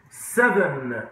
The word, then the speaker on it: seven: Seven بالV, seven, فاكرين القصة دي؟